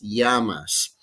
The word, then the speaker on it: llamas: i talking about okay double l in spanish pronounced like an english y so como te llamas yamas a single l is